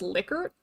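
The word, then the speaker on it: Likert: And honestly, I like pronouncing it like Lyker scale, but I recently learned that it's actually supposed to be pronounced licor, and I don't like that.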